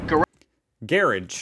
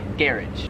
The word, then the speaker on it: garage: just sounds wrong 27 in america we say garage raj in australia some people still say garage but a lot of people here also say garage that one's yes this would be about like a 50 50 split here uh it's kind of